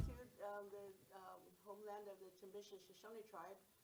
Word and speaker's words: Timbisha: So how many Timbishu? Am I pronouncing that correctly? Yeah. Timbishu. How Timbisha.